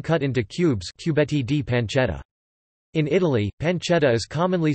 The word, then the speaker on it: Pancetta: Pancetta, Italian pronunciation, pan t'etta, is an Italian bacon made of pork belly